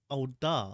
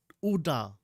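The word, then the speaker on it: Ul'dah: the crown okay we've been pronouncing the place name wrong it's not au da it's oda yeah oh and speaking of which back in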